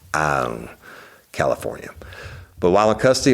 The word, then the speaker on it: Ione: It's spelled L-O-N-E, but it's pronounced Ione, California.